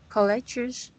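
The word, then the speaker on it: colleagues: You forgot one sound. One sound. Is that college? 2 words? No, it likes 3 syllables. 3 syllables. And college is an like an enterprise, and I mean people, right? Which was point people? Yeah. College is 2 syllables. You miss 1 syllable at the ending.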